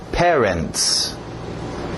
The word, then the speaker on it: parents: Cuidado com este primeiro, A e o E, mesmo som. Pé, ré, ok? Parents, parents, parents.